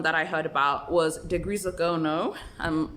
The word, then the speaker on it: de Grisogono: degrees of gono um i actually checked that out online to make sure i'm pronouncing it correctly but um to make it easy let's just call it dg for now but yes it's degree zegono which was obviously a swiss